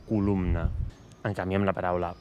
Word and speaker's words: columna: No diem columna, sinó columna.